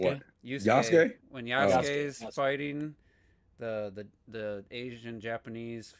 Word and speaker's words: Yasuke: Yusuke? What? Yusuke? When Yasuke's Yasuke.